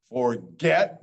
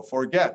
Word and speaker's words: forget: It's not always a soft G when you have an E after the G. So forget, not forget, forget.